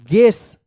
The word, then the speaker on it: guess: के बाद वाला जो यू है उसका कोई उच्चारण नहीं होगा। ध्यान रखिएगा। तो क्या पढ़ेंगे? GUESS गेस।